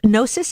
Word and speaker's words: Gnosis: You guys, first of all, I'm going to be telling you this later, but Gnosis, is that how you pronounce That's it? right.